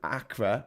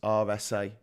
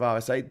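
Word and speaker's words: Acre: I know it looks like the state of Acra or AA but it's actually pronounced RSA so it's the state of RSA this this uh going up to almost the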